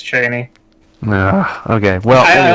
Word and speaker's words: Chani: Okay, because I always say Chani. Because I always read it as Chani, but I've had, I think in our last podcast and a couple times I've seen it spelled out phonetically, it's Cheney.